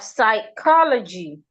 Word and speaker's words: psychology: The P is silent. Some we have psychology among other words. So all of these words when we see them we should not pronounce the sound of the P.